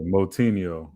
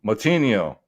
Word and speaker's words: Moutinho: guido canetti versus chris moy how do you pronounce it uh moutinho moutinho man chris moutinho made a legend it was